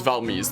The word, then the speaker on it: Valmise: But yeah, the E's in Valmise is pronounced like the E's in Chinese or Japanese, so it's Valmise then.